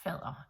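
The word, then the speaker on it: faddere: will be called fella it has nothing to do with father or far it's fella with 2DS f-a-d-d-e-r-e-r pronouncing them as softish they are in charge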